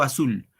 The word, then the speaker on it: azul: de primer segundo año observen acá Granados cielo azul en este caso hay que tener en cuenta solamente la última palabra Sí a ver chicos chicas atenden atiéndame acá Cuando digo Azul dónde va el acento la mayor fuerza de